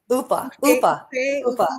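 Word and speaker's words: Uffe: and um and her the entire way her brother Of UFO is how you say his name.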